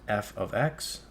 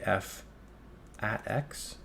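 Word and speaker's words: f(x): also pronounce it as f of x or another way you might say f at X so different ways you might um pronounce it but all it is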